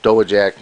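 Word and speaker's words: Dowagiac: the chief indian chief because people didn't couldn't pronounce doe jack michigan because it's not spelled the way it sounds but excuse me it's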